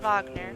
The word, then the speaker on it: Wagner: go back to Wagner and that's how I'm pronouncing it because that's how they pronounce it in the game Wagner not Wagner which is a lot